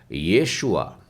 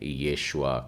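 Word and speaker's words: ישוע: नीचे ए की मात्रा तो इसका उच्चारण हो जाएगा यह सुवा yashuva तो से अंग्रेजी में जीसस कहते हैं हिंदी में यीशु कहते हैं उसे वास्तव में एवरी उच्चारण में येशुआ कहते हैं और यीशु शब्द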